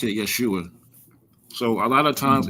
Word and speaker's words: Yeshua: So, we pronounce it Yeshua.